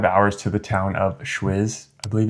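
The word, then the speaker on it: Schwyz: From there, you're going to drive 2.5 hours to the town of Schwiz, I believe it's pronounced.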